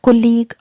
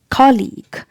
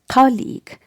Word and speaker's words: colleague: people pronounce it like colleague or colleague but the correct pronunciation of this word is colleague colleague when you break it into syllables we get two syllables call and league cow just like college